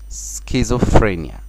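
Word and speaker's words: schizophrenia: بعقليتين، تمام، اللي هو سكيزوفرينيا. سكيزوفرينيا ده التشخيص المرضي، تشخيص المرضي سكيزوفرينيا. طبعا الاس هننطقها، السي اتش هننطقها كي، تبقى سكيزو، سكيزو بي اتش تنطق اف، سكيزوفرينيا، الخوف المرضي، فوبيا، فوبيا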